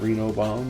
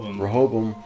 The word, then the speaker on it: Rehoboam: And we've seen the cradle, we've seen the forge, and we've seen the I say it wrong, not Reno bomb, but Rehoboam.